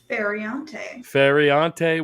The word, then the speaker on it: Feriante: I don't want to mispronounce your last name. How do you say that? Feriante, welcome both the hosts of These Are Bad Movies.